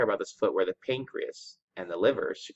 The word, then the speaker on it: pancreas: about the pancreas and please don't add an e on the end of pancreas okay it's just pancreas that's why you spell it okay if I say